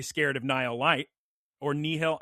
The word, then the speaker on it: nihil: of Nile light or nihil. How do you pronounce n ih i l. Is it ny? It's probably n. Yeah, like it's like a Nile. Nihilism. Yeah, Nile.